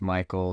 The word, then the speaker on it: Mikael: thanks for having me here yeah so it's Michael simple pronunciation blame my parents the linguists for that